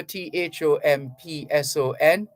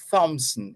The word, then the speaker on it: Thompson: the H is silent saming for t-h-o-m-p-s-o-n it's not Thomson it's Thompson now having said that